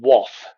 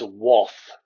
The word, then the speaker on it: Wath: the devil lived in waff now i'm assured by my mum who is a yorkshire last from bridlington that it is pronounced woth this is the story